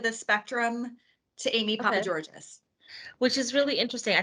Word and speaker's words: Papageorges: Yes, Papageorges. Okay, perfect. I wasn't sure if you now pronounced the S or not.